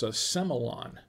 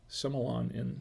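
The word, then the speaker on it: Sémillon: However, in Australia, they pronounce it without the accent on it, and it's pronounced Semillon. Semillon in Australia, apparently.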